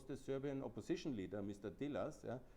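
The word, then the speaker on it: Đilas: Dilas, yeah? He is Gilas, I think it's correctly pronounced.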